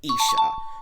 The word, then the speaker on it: Isha: way I knew of Aisha's name before the series came out and my American ass pronounce her name as Aisha instead of Isa but I was only